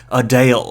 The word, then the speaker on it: Adele: Also, apparently the correct pronunciation is Adele.